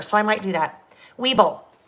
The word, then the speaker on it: Weeble: i might do that weeble now not weevil not a weevil not like the little things that come in flower well hopefully they don't